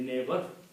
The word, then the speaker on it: neighbor: okay so like neighbor sometimes it is written with n e i g h Okay, we don't pronounce many of those letters in the neighbor.